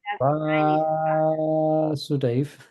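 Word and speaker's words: Vāsudeva: So Vasudeva, so with the line above the A, it's Krishna. It's Krishna. So it's pronounced Vasudeva, exaggerating the prolonged And pronunciation. Vasudeva, Krishna's father.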